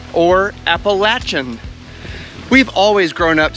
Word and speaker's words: Appalachian: You can't come to Shenandoah National Park without hiking at least a little bit of the Appalachian Trail.